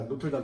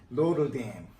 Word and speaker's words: Notre Dame: 우리 진짜 그제 파리 가면은 제일 유명한 성당 중에 하나가 노틀담 성당인데 노틀담 영어로 어떻게 표현해요? 영어 발음이 어떻게 해요? 노르댐. 저 진짜 정확한 발음이 노르댐이에요.